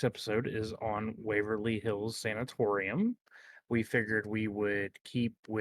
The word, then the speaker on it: sanatorium: Yeah, Um, today's episode is on the Waverly Hills Sanatorium, Sanctimonium. How do you say that word? Sancha, what? Sanctimama. I believe the correct pronunciation is sanatorium.